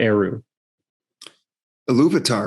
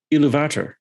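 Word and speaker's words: Ilúvatar: the other name for aru loubitar right yeah that's not how it's pronounced by the guy who reads it it's iluvatar gosh see like it's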